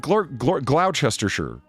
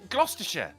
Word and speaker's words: Gloucestershire: god that's that's how you say it right gloucestershire right no it's not you say gloucestershire gloucestershire is that right gloucestershire yes but there's